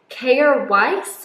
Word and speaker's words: Kjaer Weis: never say it unless I put an American accent on, Kjaer Weis. I have heard other beauty bloggers talk about this and a lot of them are from America. So that's how I learned how to say it.